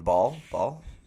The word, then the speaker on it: Bahl: And I think they have a lot of trust in your boy Kevin Ball. BAHL Ball. Yep. I think that's how they say it. Yeah, like a testicle.